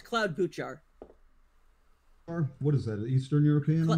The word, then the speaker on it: Klobuchar: It's Cloud Buchar.